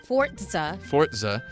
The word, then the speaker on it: Forza: I guess we're talking about Forza. Forza. It's pronounced like the number 4.